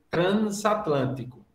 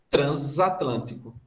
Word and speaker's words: transatlântico: Você tem NS, significa dizer que você deveria pronunciar o S com som de S. Então, você, em tese, seria transatlântico. Como a gente não pronuncia esse N, porque ele é uma mera nasalização, considera-se que são duas vogais. E, por isso, transatlântico. Porque o N, efetivamente, não é pronunciado.